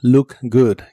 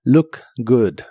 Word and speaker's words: look good: Y usarás la frase look good, que significa verse bien. La doble o de look y la doble o de good se pronuncian como si fueran una u corta y explosiva. Look good.